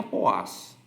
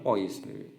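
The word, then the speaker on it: poise: Bacanya itu ternyata poas, bukan pois. Beberapa orang tuh bilang itu poas gitu.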